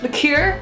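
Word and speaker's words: liqueur: half an oz of marcino liquor lure not liquor lure some half an ounz of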